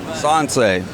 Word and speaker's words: Sansei: Did I pronounce that right? S&S Sansei. Sansei, okay.